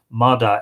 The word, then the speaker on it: Mata: The 5th of Genon it is, over which was Ailill, son of Mata. Very interesting, M-A-T-A, but in Irish, Mada, M-A-D-A.